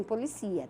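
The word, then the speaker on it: policía: Ele policia, pronuncia assim, policia, tá?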